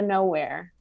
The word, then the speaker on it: Knowhere: called dumb door to nowhere and it's it's spelled k-n-o-w and then here so like no here perfect well yeah that's